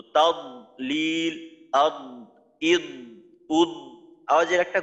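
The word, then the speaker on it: تضليل: তারপর দদের ক্ষেত্রে অনেকের আওয়াজ বন্ধ হয়ে যায়। যেমন ধরেন সূরা ফিলের মাঝে আছে ফি তাদলিল, ফি তাদলিল, তা জবর তাদ, তাদ। তো এখানে আওয়াজটা কিন্তু চালু রাখতে হবে। আওয়াজটাকে আপনি সিদ্ধার হরফের মতো মাখরাজে যাওয়ার সাথে সাথে বন্ধ করে দিতে পারবেন না। তাদলিল, ফি তাদ, তাদ।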